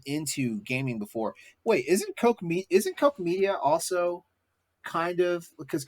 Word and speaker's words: Koch: I always thought it was Koch Media. No, it's Coke. It depending on how you say it, sometimes it's Coke. Cook Media.